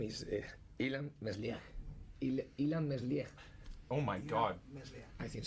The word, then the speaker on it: Ilan Meslier: How do we pronounce his name? The name is Ilan Meslier.